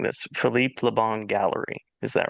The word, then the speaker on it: Philippe Leon: And you've recently had a a show at the correct me if I'm mispronouncing this. Phipe Leon Gallery. Is that right? That's correct. Yeah. Philippe Leon.